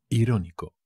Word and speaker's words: irónico: por supuestísimo ironic irónico irónico con acento en la primera o an irritado irritado I